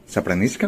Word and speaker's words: Sapramiška: ¿Do I pronounce good? Zapranishka.